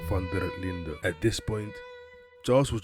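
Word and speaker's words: van der Linde: crossed paths with Dutch vanderland or the correct pronunciation Dutch fer Linda at this point Charles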